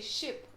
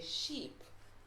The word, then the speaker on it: sheep: a double e so don't say ship but say sheep sheep so you want